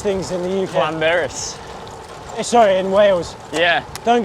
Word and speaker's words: Llanberis: Pulling into the town of Llanberis in Wales. The two L's, Yeah. you don't pronounce it as L, it's pronounced Cl, so I've been told.